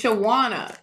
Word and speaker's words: Shawna: next is Shawna. Shawana. Reading Shawna. Shawna reading Shawna. No, it's Shawana. Oh, Shawana. Oh, now I get spanked because I said it wrong.